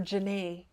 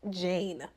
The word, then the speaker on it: Jane: Y'all, I kept calling her Janae. That ain't her name. It is pronounced Jane.